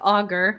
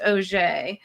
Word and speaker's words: Auger: It's called the Al Cento Tarot, and it is by Michael Auger. It looks like Auger, but I looked him up online, and it's actually, or it's in the book, I guess. It's pronounced Auger.